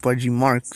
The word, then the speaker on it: Budgie Marx: It's pronounced Budgie Marx.